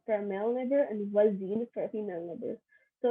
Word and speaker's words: voisine: For a neighbor, if it's a male neighbor, you say voisin, and if it's a female neighbor, you say voisine. Voisin for a male neighbor and voisine for a female neighbor.